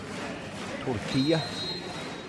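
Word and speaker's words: Türkiye: Turkey, I have to remember to call them, the official international pronunciation. Turkiye.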